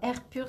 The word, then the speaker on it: Air Pur: Alors Air Pur s'écrit R, la lettre R-Pur, P-U-R.